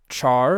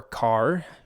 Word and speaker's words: char: We have char or car. I guess you should pronounce it car because it's character, but I've always said char, even if that's incorrect.